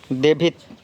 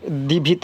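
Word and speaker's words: девять: ভসেম ভসেম মানে আট দেভিত দেভিত মানে নয় এটা ক্ষেত্রে দিভিত বলে কিন্তু দেভিত দেভিত মানে নয় দেশিত দেশিত মানে 10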